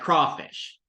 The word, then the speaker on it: crawfish: I don't say crayfish. I say crawfish.